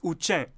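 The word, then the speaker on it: དབུ་ཅན: the Tibetan script, how do you think it's pronounced? Any clue? Time's up. It's Uchen.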